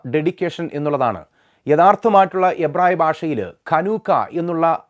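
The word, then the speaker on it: חנוכה: ബ്രാഞ്ചുകളുള്ള ശിഖരങ്ങളുള്ള menorah എന്നുള്ള ഒരു വിളക്കാണ് ചനൂക്ക എന്നും ഹനൂക്ക എന്നും ഒക്കെ നമ്മൾ വിളിക്കുന്ന ഈ പെരുന്നാളിന്റെ യഥാർത്ഥ അർത്ഥം എന്ന് പറയുന്നത് ആ പദത്തിന്റെ അർത്ഥം പ്രതിഷ്ഠ അഥവാ ഡെഡിക്കേഷൻ എന്നുള്ളതാണ് യഥാർത്ഥമായിട്ടുള്ള എബ്രായ ഭാഷയിൽ കനൂക്ക എന്നുള്ള ഉച്ചാരണത്തിലാണ് ആ ഒരു പദത്തെ അറിയപ്പെടുന്നത് കനൂക്ക എന്നുള്ള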